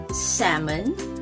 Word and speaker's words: salmon: all right that is salmon and almond okay so these two popular foods are tricky because the l is silent in both so you don't say